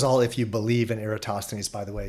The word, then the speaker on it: Eratosthenes: And so I consider Eratosthenes, some people call him Aristophanes, I call him Eratosthenes, and I hear that pronounced differently in other ways too, but most commonly Eratosthenes.